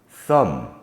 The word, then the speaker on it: thumb: that we gave was climb but there are a number um bomb cone lamb num thumb all end in the letter B not sounded in a mid uh